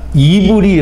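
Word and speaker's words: עברי: 힘 우리 이니 아니구요 히브리 라는 말은 아 이유리 라고 발음을 하는데요 이 우리를 낳아 스러운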